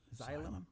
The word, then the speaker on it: Xylem: It says replace the new, and how do you pronounce that name? Xylem. Xylem?